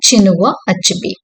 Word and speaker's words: Chinua Achebe: இந்த ஆத்தர் நேமை வந்து அப்படிதான் ப்ரொனவுன்ஸ் பண்ணுவோம், சினுவா அச்சுபி.